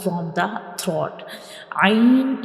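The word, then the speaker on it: ع: Ain is pronounced from the middle part of the throat, and ghain is pronounced from the upper part of the throat.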